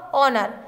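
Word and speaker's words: honour: Fill the blanks with the suitable silent letter. Knob, wrong, ऑनर, इसमें भरा जाएगा के, K N O B,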